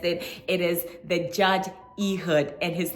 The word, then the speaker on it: Ehud: hope you guessed it it is the judge eood and his name is spelled e h u d um and his